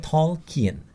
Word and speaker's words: Tolkien: Tolkien, diucapkan Tolkien, yakni film luar biasa tentang J.R.R.